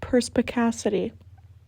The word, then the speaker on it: perspicacity: It's pronounced perspicacity.